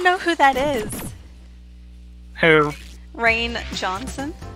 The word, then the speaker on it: Rian: who that is who Rainn Johnson Rian Johnson he's the guy who butchered the last Jedi see that looks like crane not Ryan I know but that's